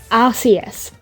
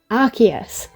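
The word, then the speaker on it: Arceus: had official sources say Archus. Um, which um I believe literally the reason they did that and they went back on themselves and changed the official pronunciation is because because it sounds like ass.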